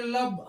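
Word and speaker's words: love: आप देखेंगे एल ओ भी ई, इस हिसाब से लोभ होना चाहिए, इस हिसाब से आपका लोभ होना चाहिए, लेकिन ये लव हम पढ़ते लव।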